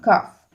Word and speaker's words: calf: ends the particular noun calf. So calf is converted to calves. Okay, so you remove the f and add ves actually. Half, halves. So L is silent here. Remember that L is silent here.